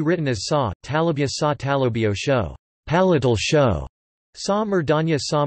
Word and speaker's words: তালব্য শ: The voiceless palato-alveolar sibilant phoneme can be written as sa, talabya sa talabio sho, palatal sho, sa murdhanya sa murdhanyo sho, retroflex